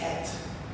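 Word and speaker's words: את: And you put these two letters together, the word is at. It's pronounced as at in Hebrew.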